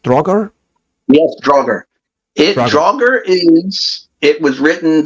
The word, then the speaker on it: Draugr: Is it right pronounced? Draugr? Yes, Draugr.